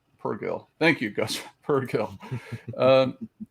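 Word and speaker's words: Purrgil: Pronounced Purgil. Purgil.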